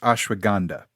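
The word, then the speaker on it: ashwagandha: to burn fat yeah I believe it's pronounced ashwag gandha that stuff right there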